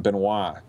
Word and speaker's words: Benoit: the supreme doctrine by Hubert Benoit or in the French you pronounce him Benois and this was my favorite Zen Buddhist meditation book.